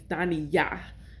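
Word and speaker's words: Daniyah: And it is it's the emphasis on the right syllable. The emphasis is on Yah. It's Dani Yah. That is how you say it.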